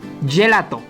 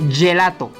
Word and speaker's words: gelato: vimos con góngona pero si le sigue una letra e o una I el sonido sonará como una y o y como le